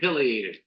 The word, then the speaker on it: pileated: We get more pileated woodpeckers. By the way, the pronunciation can also be pileated. Either one is correct.